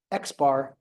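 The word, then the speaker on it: x̄: one single sample mean symbolized by x with a bar on top xar as statistician to pronounce it from a single sample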